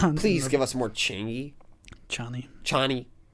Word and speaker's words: Chani: Which is why we need to give him more time with Changi. You're still saying it. It's you're saying it wrong on purpose. How am I supposed to say it? Cha? Cha-ni. Chani. Sure.